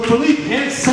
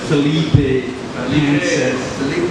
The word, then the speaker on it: Philippe Hansen: Guys, give a huge round of applause for Philippe Hansen. Did I say it right? You said it better than most of the nurses in this town who call me Felipe Hansen.